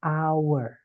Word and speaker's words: hour: teman-teman tapi an hour walaupun awalannya Ha kenapa karena dibacanya our seperti itu gitu ya hour Jadi kalau